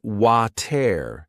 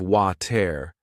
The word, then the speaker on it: water: When I listened to native speakers say it, I noticed they didn't always pronounce the T in the middle. They said water instead of water.